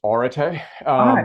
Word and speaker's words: Areté: Yeah, I mean, there's different ways to pronounce it, but the way that I've come to pronounce it is Areté.